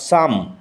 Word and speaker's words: psalm: From him was gathered in such moments as these almost every line and syllable of a certain short psalm. উচ্চারণ লক্ষ্য করো। P will remain silent.